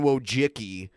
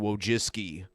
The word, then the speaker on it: Wojcicki: kind of like how everyone says susan wojcicki when her name is susan wojcicki because it's it's a slavic name so when we read